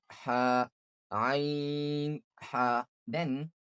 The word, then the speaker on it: ع: ain and ha, these both are pronounced from the middle part of the throat, middle part of the throat. ha ain ha ain ha Then, ghain kha.